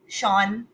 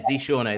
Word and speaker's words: Zseano: I'm so happy to welcome our first speaker for today, Zseano. Please tell me I pronounced it correctly. Yeah, you did. Yeah, Zseano, that's the name.